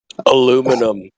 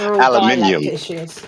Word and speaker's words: aluminium: waterball the waterball ideologists now telling people they're pronouncing names wrong so can don't forget horn don't forget it's not ideologist it's ideologists aluminum no no no no no aluminium people themselves I do I do like their